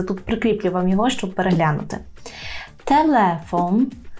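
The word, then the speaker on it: telefon: прикріплював його щоб переглянути телефон телефон кілька разів за мною старайтеся повторити знову ж таки наголос падає на склад ле бо він перед останній не телефон а телефон окно так окно передостанній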